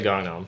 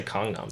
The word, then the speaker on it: Gangnam: like busan or busan i say gangnam like gangnam style isn't that what he says he didn't say kongnam style so i assume that is the correct pronunciation because that's a korean